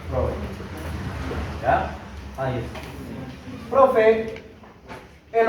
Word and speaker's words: Freud: Se escribe Freud, pero se pronuncia Freud.